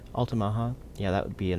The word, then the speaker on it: Altamaha: Altamaha, yeah, that would be a Native American word.